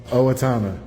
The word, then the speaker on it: Owatonna: Owatonna.